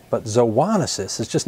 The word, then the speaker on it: zoonosis: how you pronounce that now the words zoonosis and zoonotic have the same origin as some other words you may know such as and zodiac and Zoo now the root of